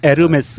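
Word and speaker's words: Hermès: 같아 아 몰리 싫어하면 에르메스 입니다 이렇게 즉 발음이 안 났다 면서 요금 이에요 h 가 발음이 안 되니까 우리가 운무 도 호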